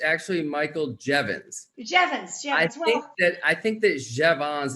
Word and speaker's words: Jeavons: Vaughn's that was pretty close it's actually Michael Jevons that I think that Chevron's is actually the